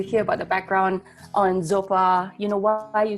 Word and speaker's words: x0pa: gonna start up session with nina nina from super and with the yarn is co-hosting with me